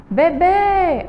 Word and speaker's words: bebê: Veja só, na última sílaba de bebê tem um acento. Vamos chamar bebê. A última sílaba aí é mais forte e está acentuada, certo?